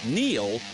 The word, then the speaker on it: Neil: It's no coincidence that Neil rhymes with deal.